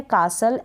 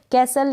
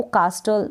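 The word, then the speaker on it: castle: फिर यह है कासल, ST को भी आप स पढ़ेंगे, यानी कि ये जो T है ये साइलेंट है तो बचा S, तो S का प्रोनाउंसिएशन स है, इसलिए ST को हम स रीड करेंगे। कैसल या कासल, इस तरीके से आप इसको रीड कर सकते हैं, मतलब कि किला, तो आप इसको कास्टल ना पढ़ें, कासल या फिर कैसल रीड करेंगे।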